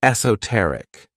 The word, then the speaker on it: esoteric: my favorite adjectives is esoteric this word has four syllables and the stress is on that third syllable esoteric when we describe